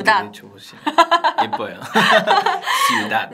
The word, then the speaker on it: ciudad: Ciudad. 네, Ciudad. 이것도 마찬가지로 지금 배로 끝났으니까 처음 마지막 모음에 강세가 와서 어떻게 읽는다고요, 여러분?